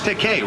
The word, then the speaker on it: Takei: George Takei. Rhymes with okay.